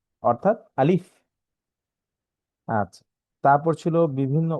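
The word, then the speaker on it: ألف: এই হরফটি উচ্চারণের ক্ষেত্রে সামনের উপরের দাঁত, নিচের ঠোঁটের পেট, বাতাস চালু, মুখে হাসি ভাব। অর্থাৎ আলিফ।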